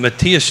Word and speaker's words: Matthias: We've got Taylor Everett and Matthias John. Did I pronounce that correctly, or did I misconnect?